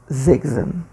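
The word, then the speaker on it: sechzehn: 16 zegzen. Atenção na pronúncia, né, do s iniciando a palavra em alemão. Tem um som de Z.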